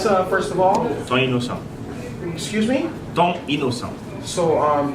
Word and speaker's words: Ti Inosan: All right, I think he mispronounced that all the way. I am learning the Haitian language. First name is. And Ton, oh crap, I mispronounced it. Ton Inosan. There we go.